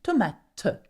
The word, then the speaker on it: tomate: La tomate. See, the E sound at the end, tomate, okay?